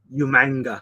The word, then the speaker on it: Umaga: uh for Umaga but it was the William Regal pronunciation umanga uh-oh that same role then